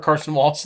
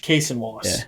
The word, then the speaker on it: Cason Wallace: If he just is like, I'm going to start Carson Wallace instead of Alex Caruso. I want his energy off the bench. Cason Wallace.